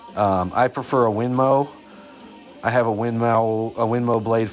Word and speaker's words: Winmau: It's spelled Winmau. Winmo, but it's pronounced Winmo.